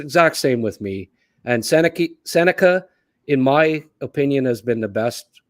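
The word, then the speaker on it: Sennecke: Yes, as I've come to realize, it's pronounced Seneca as opposed to Seneke.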